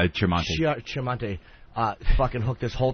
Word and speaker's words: Tremonti: And I got a plea from Sanctuary Records, Kevin, how do you say, is it Chairmate? Tremonti.